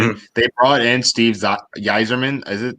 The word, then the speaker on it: Yzerman: They brought in Steve Yzerman. Is it how you pronounce his name? Yep. Yzerman.